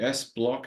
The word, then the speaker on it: SBLOC: S-block is how I'd pronounce it.